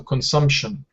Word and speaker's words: consumption: And consumption, actually the P is not pronounced, it's silent. So consumption. Consumption.